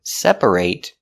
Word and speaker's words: separate: stress the third so we pronounce the long a sound separate when it's not a verb we pronounce it separate separate with the I it sound because when you say separate the stress is on the first syllable only and that syllable a te is not stressed so we change the pronunciation to it it it separate separate is